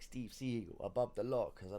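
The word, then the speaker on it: Seagal: I'm bad like Steve seagull I mean I know it's pronounced seigal but again if he's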